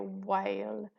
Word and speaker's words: whale: whale there we go so this silent letter is the H here and we have a split diagraph here whale there we go okay